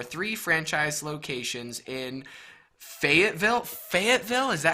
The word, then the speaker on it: Fayetteville: marketing director for three franchise locations in Fayetteville Fayetteville is that how you pronounce that yeah Arkansas that's correct wow fantastic